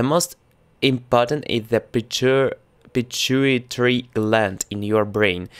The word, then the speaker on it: pituitary: say it correct let's google it will be pituitary gland pituitary gland pituitary gland is just under your brain mainland hormones are made in parts of the particles glands the most important is the pitcher pituitary gland in your brain its Hartman's controls many